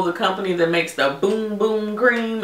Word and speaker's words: Bum Bum: company that makes the boom boom gream it's spelled b m bu M like bum bum but it's pronounced boom boom everybody's going crazy about